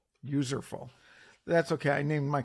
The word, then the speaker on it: Userful: It's a mashup of useful and user, so Userful. Userful.